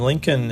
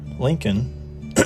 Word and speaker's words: Lincoln: And Lincoln is going to be, it's a good example of how phonetically the L is really silent, but orthographically, if you wrote it, you would want to do the L.